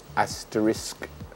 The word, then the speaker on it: asterisk: a s t e r i s k asterisk so mhm asterisk some people say Aster asterisk